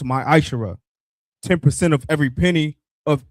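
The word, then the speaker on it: מעשר: Means tenth in the Hebrew, and is pronounced ma'ashara.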